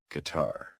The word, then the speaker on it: guitar: Next up, the undercover. Silent U. Guitar. Guitar. Guitar. Guard. Guard. Guard. Tongue. Tongue. Tongue. Guilty. Guilty. Guilty. Guest. Guest. Guest. That U is just tagging along for the ride. No sound.